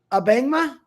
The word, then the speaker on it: Abangma: Abangma?